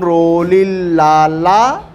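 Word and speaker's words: Rolihlahla: Nelson रोली लाला Mandela यह silent हो जाता है ठीक है नेलसन रोली लाला मंडेला समझ में आ गई बात एच साइलेंट कर दो हो जाएगा ठीक पढ़ने आ गया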